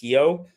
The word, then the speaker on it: Rio: Um, by the way, for just people interested, um, in in Portuguese, Rio is pronounced Hio.